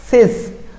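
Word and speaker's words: cease: সিএস, সিস, মানে এইটা উচ্চারণটা হবে এরকম, আমি আপনাদেরকে বানানটা দেখলে বুঝতে পারবেন।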